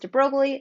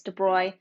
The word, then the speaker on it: de Broglie: this looks like his name looks like it's pronounced de broglie it's french it's de bruy um by the end of the video you